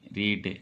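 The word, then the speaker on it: read: अलग करने के लिए इसका उच्चारण रेड होता है।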